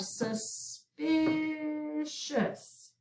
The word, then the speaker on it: suspicious: the two c's and we have suspicious we'll accent the middle syllable okay so let's do